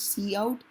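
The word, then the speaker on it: cout: so the value you entered was Vector all right okay so good to know see see how it is pronounced as C out use for output and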